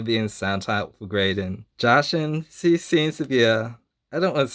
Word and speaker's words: Jacinthe: Another card I got is Jashin. I think that's how you're supposed to pronounce her name. Jacinth. Jason. Jason. I try to pronounce it the same way the gemstone is, Jashin.